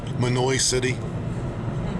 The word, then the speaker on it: Mahanoy City: Mahanoy City is pronounced Manoy City.